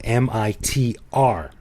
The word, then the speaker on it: Mitr: like this because it's actually spelled M-I-T-R. Because in Thai, it's spelled Moma Salai Dot Dao Ra Rua, but you don't pronounce the final Ra Rua, so it's just Mit with like the last letter being silent completely.